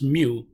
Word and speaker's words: mu: denote this when we say mu this is pronounced as mu that is population mean when we say X